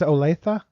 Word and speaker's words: Olathe: South Dakota but um we see Julian's from a loaf Kip is from Des Moines how do you say that it's Olathe or yeah I'm out of my mind today